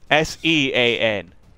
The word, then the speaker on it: Sean: S-E-A-N. I do E before A. Tired of waiting around. But it's still pronounced Sean if you have an H in it. It's an Irish thing.